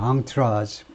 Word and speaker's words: entourage: As his entourage attempted, 뭐 하는 동안에 as his entourage는 불어에서 프랑스에서 왔기 때문에 프랑스식으로 entourage라고 읽죠. entourage.